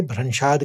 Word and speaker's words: भ्रंशाद: बुद्धि नाशो तो आराम से निकल जाता है लेकिन स्मृति में भ का ब वाला का घात लेके भ्रंशाद करना है आपने।